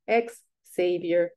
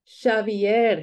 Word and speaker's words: Xavier: People comment on his accent, mispronounce his name, call him ex-savior, as if he had fallen from grace and could not be redeemed. Xavier, he says, over and over. It's Basque.